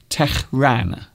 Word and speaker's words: Tehran: I hope I'm pronouncing it right, because I believe you have to pronounce the H very harshly. So maybe it's Tehran.